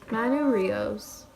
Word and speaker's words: Manu Rios: Manu Rios, that's how you pronounce his name.